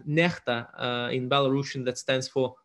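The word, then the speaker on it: NEXTA: uh that is called necta in belarusian that stands for something uh often mispronounced as next it's not next it's necta so before the day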